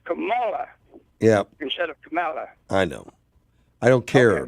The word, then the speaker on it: Kamala: water and they see better and you're you're mispronouncing harrison's first name oh camila camilla try to get you i try to get you on your private line but uh you got 50 i guess anyway it's kamala i know i don't care though but yeah